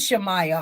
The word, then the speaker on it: Shamaiya: her family either so they say who is shamaya Hall that's how you say her name shamaya